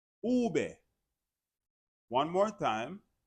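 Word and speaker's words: uve: The letter V in the Spanish alphabet is pronounced ube, ube, ube. One more time, ube.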